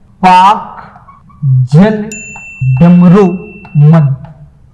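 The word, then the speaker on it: Palk: तो यहां पे एक वाटर स्टेट है जिसको आप जल डमरू मध्य बोलते हो, जिसे बोलते हो पाक जल डमरू मध्य। याद रखना, पाक स्पेलिंग ऐसे लिखते हो, पाल्क।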